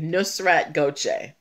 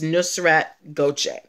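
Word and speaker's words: Nusrat Gökçe: until yesterday um salt bae's real name is nusrat gochek um i i looked up the the the i googled the pronunciation to make sure that i got it right nusrat gauche 76 gram k nusrat goje but um that's that but you got the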